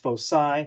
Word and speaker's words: foci: two focal points again this is pronounced Foci with an S we want to go